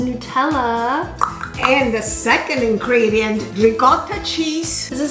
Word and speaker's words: ricotta: How do you say ricotta the right way? Ricotta. Not ricotta. Yes, no, please don't say ricotta.